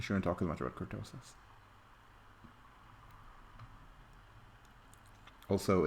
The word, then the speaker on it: kurtosis: Oh, kurtosis, not kartosis, kurtosis.